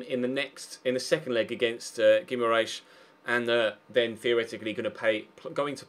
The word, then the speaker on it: Guimarães: Turns out I was actually pronouncing it pretty spot on, Guimarães.